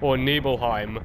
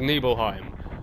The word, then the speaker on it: Nibelheim: Now, I'm sorry if people are calling it Nibelheim, but I think it's actually pronounced Nibelheim, but I always called it Nibelheim, so I'm gonna call it Nibelheim, yeah?